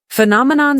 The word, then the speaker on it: phenomenon: Phenomenon spelling p h e n o m e n o n. Pronunciation f e nom a non.